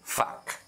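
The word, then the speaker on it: 밖: कुरा चाहिँ हेर्नुहोस् त यहाँ ग झुन्ड्यो तर यो यसरी यहाँ ख झुन्ड्यो तर यो ख झुन्ड्यो भन्नेमा यसलाई आधा ख चाहिँ होइन हामीले आधा क उच्चारण गर्नुपर्ने हुन्छ त्यही भएर हामीले चाहिँ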